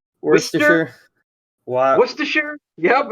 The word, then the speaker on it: Worcester: Worcester. Like you don't know how to, like you're saying rooster, but you can't say your R's.